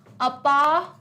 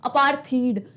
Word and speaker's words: apartheid: इट इज अपार्थाइड, अपार्थाइड. Okay, तो it's like अपार्थाइड, अपार्थाइड, अपार्थाइड. तो इट्स not like अपार्थीड, थ वाला sound नहीं आ रहा है. इट्स अपार्थाइड, ये इसका प्रोनाउंसिएशन है.